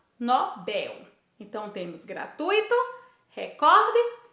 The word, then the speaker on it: Nobel: não é acentuado então a palavra nobel é uma oxítona o correto é falarmos nobel então temos gratuito recorde